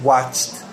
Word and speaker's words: watched: Pronunciation, watch it, watched. The ED makes a T sound.